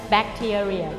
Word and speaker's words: bacteria: Ini yang nomor 10 itu yang sering sekali diucapkan salah. Bakteria, bacteria.